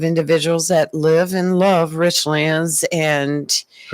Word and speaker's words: Richlands: It ain't Richland's.